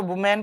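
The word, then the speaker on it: women: लेकिन इसका अगर प्लूरल कर देते हैं, ये कर देते हैं, तो इसको हम लोग तो वुमेन पढ़ देते हैं, लेकिन नहीं, इसका प्रोनाउंसिएशन होता विमेन, विमेन होगा।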